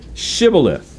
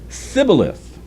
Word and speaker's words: Shibboleth: Then they would say to him, please say Shibboleth. And he would say Sibboleth, for he was unable to pronounce it right.